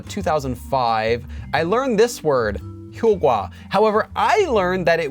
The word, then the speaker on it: 효과: And eventually in 2017, 국립국어원 relented and decided, okay, both of these are acceptable pronunciations for the word 효과.